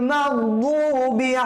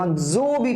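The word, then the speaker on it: مغضوب: লাযীনা আন'আমতা আলাইহিম গায়রিল মাগদুবি আলাইহিম ওয়ালাদ-দাল্লিন। লক্ষণীয় একটা ব্যাপার, আমরা অনেকেই গয়রুল মাগজুবি পড়ি, হ্যাঁ, জু পড়া যাবে না।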